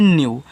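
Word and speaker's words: new: देखो यहां लिखा है एन ई डब्ल्यू तो इसको पढ़ते हैं न्यू देखो ई और डब्ल्यू जिसके बाद लगा उसको आप ऐसे यू पढ़ा करो लेकिन ये जो यू ई डब्ल्यू के पहले वाला होगा उसको हम क्या करते हैं आधा बनाते हैं। ठीक है? तो यहां पे आप एन से क्या करोगे? आधा ना बनाओगे। तो ऐसे कहना है न्यू आधा ना और यू न्यू और न्यू का मतलब होता है नया।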